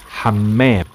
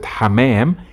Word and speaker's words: حمام: And be careful also, you have to stress on the meme. حمام. Because if you don't stress on the meme and you pronounce it حمام, it's completely different word.